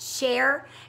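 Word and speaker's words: chèvre: share it's caught this CH e BRE is pronounced share and what it means is goat cheese but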